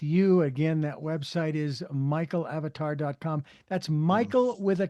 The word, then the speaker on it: Mikael Avatar: But Michael Avatar spells it with a K and it's still pronounced the same.